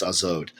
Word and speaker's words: Az: Secret names, Neptosoeleth, and in Zoroastrianism, she is Az, A-Z, which I think is pronounced Azod.